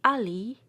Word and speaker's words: Ali: The letter I, when found in Turkish and Persian words, should invariably be pronounced like E. The long I sound does not exist in those languages except approximately as in the dip tongue I. Ali should be pronounced Ali.